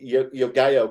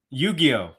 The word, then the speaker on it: Yu-Gi-Oh: Is that Yogayo or Yu-Gi-Oh? I never can get it right. Come on, your girlfriend's Asian. Your girlfriend's Asian. You should be able to pronounce it. She's not Japanese, though. She doesn't know what to say. How do you say it, Dan? Yu-Gi-Oh. Yu-Gi-Oh. Yes.